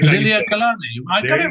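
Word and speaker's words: Liliʻuokalani: Yeah, it's because there's that U in there. It's Liliu Kalani, but it's just pronounced Liliu Kalani. Just like Liliu Kalani.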